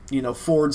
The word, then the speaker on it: Fjord: So it's like Fjord, but pronounced Ford.